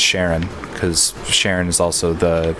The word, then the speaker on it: Charon: It's spelled Charon, and I thought it was more like Karin or something like that. But I learned from playing Hades that it's actually pronounced Sharon, because Sharon is also the like shopkeeper in that game.